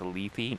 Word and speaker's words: Lethe: I hate that it's pronounced Lethe just because of the extra E.